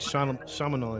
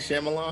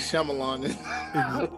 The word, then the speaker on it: Shyamalan: A lot of might shaman or whatever. However you say his name, butchered it. Like Shamalan.